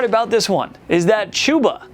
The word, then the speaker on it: Chuba: the crazy part about this one is that chuba not chubba has been on top of this whole thing